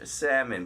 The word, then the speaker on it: Salmon: Spelled like the fish salmon, but do not say that to him.